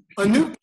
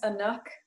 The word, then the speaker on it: Anook: that are sharp um anub you had a question and now you get to make sure i'm pronouncing your name correctly please say your name out loud uh my name is anook darn it i'm so